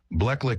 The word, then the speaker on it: Bleclic: Bleclic is the correct way to say it, but it felt strange, like my name just got ripped away.